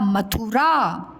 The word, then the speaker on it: मथुरा: म था में छोटा की मात्रा थू और रा मथुरा।